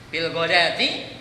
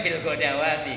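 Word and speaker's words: بالغداة: Kalau tidak ya tadi seperti disampaikan oleh Ustaz Salafuddin, bil godati, orang bacanya bil godawati, karena ada harokatnya Pak.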